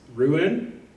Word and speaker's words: Rouen: took residence in, I know I'm going to mispronounce this, Rouen?